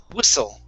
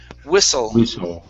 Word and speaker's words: whistle: an unvoiced s sound instead of wishful with an sh it's wiss whistle we saw we saw in teams okay now uh with the l sound at the end of that word instead of saying wissu with an oo it's ol so curve your tongue up and there you go one more time whistle